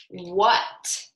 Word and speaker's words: what: So this word is actually pronounced w-at, what, as in, what did you say? Or what did I just learn? So what is spelled W-H-A-T, but it's pronounced W-U-T. So the letters W and H are the tricky part of the word, just as they were in where, because the W-H only has the W sound, right?